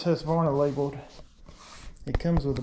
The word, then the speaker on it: Husqvarna: One thing about old Husqvarna, I like, people always whine when I say Husqvarna, even though that's proper. Husqvarna. So I try to change my cadence or my pronunciation to make them happy.